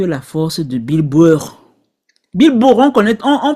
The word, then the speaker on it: Bill Burr: Bill Burr, on prononce ton nom comment?